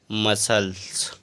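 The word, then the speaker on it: muscle: एस के बाद सी आ तो इसको पढ़ेंगे मसल अगला है एस सी ई एन तो एस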